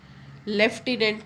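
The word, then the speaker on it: lieutenant: physics में पीए इज F fickle में एफ इज F right लेफ्टिनेंट में there is नो एफ एफ but then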